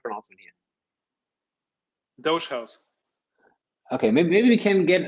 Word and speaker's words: Dogehouse: session in on dot charles how does it pronounce dutch house doge house what is what is correct announcement here doge house okay maybe we can get a couple of